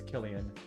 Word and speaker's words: Cillian: Yeah, no, his name is Killian, not Cillian.